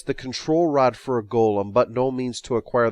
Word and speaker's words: golem: on oxford online and it's pronounced golem in both the american and british versions so i'm gonna stick with golem anyway golems would be